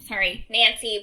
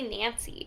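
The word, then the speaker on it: Nainsi: They say Nancy. They call her Nancy. But her name is spelled Niansi. So it's Nancy.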